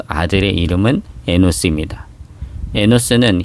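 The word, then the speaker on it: אֱנוֹשׁ: 에노스는 히브리어 발음으로 에노시인데 사람 혹은 인간이란 의미로도 사용이 됩니다.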